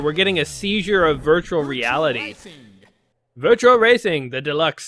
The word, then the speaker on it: Virtua: Like, I wanted to call it Virtual Fighter, but it was Virtua. So it's not, let's go ahead and do this virtually. It's Virtua-y, if you were to say it like that.